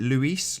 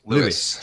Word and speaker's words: Lewis: Is it Luis? Lewis? How do you say it? Lewis. Just Lewis.